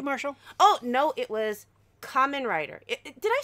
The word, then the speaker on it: Kamen: Oh, no, it was Kamen Rider. Did I say it correctly? It reminds me of ramen, but with a K.